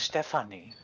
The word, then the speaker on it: Stephanie: It sounds like in German, stuffing. it's pronounced Stephanie. Filthy Farebear.